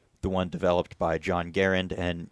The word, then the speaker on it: Garand: by John Garand, and yeah, that is how he pronounced his name. I know people say Garand, but he pronounced his name with the emphasis on the first syllable, so I will be doing that as well.